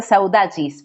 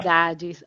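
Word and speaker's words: saudades: Eh, con la palabra e que me dijiste que se pronuncia saudacis, pero a vos te sale mejor. Saudajis.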